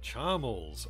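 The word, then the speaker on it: Charmles: majesty the request concerns my son Prince charmal charmal okay that is how that's pronounced to become king of argonia one must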